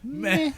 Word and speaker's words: meh: It's soft. Yeah, it's soft, and as you're saying it, you're expelling all the air.